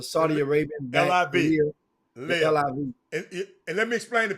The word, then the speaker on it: LIV: LIV. And let me explain to people what live. It looked like live, but it's LIV. It's the Roman numbers for.